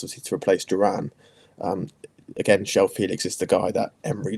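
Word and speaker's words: João Félix: Again, Joao Felix is the guy that Emery loves, and Emery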